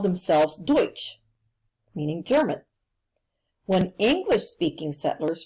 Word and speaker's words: Deutsch: And if you look in parentheses there, you see how it's actually pronounced. It's Deutsch. The English-speaking settlers heard the German-speaking settlers use the term Deutsch.